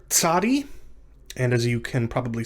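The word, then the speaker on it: tsadi: a final form the letter tsari is pronounced like the ts in the english word boots or the ts at the beginning of the english transliteration tsunami right this isn't a simple s sound it's not just it's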